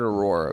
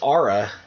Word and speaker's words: Aurra: I've heard it pronounced both ways, though. I've heard Aurora, but I'll take your word for it. I'm pretty sure it's Aura, because it's like A-U-R-A or A-U-R-R-A.